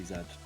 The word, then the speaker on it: Z: i swear we say zedd uh it's not just british that pronounced z zed the vast majority of english-speaking world does this the primary exception is the united states where zed is pronounced z well there you